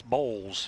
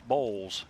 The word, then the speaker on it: Balls: a pronunciation on that it's bowls it sounds like boy it's spelled boils but it's bowls gotcha that's how he says it yep nice steady